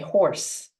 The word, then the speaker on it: hoarse: We say horse, like a horse, 馬の horse, but the spelling is different, same pronunciation.